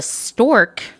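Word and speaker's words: Storque: had its own magazine video cast called the stork that's spelled s-t-o-r-q-u-e in case you were wondering which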